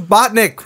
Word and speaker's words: Bauknecht: your name right hown bachnik I know there's a K in there it's a German thing right yeah it's a silent k it's sometimes it's not okay it's one of